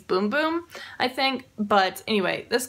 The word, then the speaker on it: Bum Bum: cream on here but it's actually pronounced in Portuguese boom boom I think but anyway